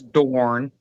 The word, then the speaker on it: Dorne: Fe free Phoebe, you pronounce it wrong. It's not Donna. It's Dorne.